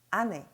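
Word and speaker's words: 姉: 아네 .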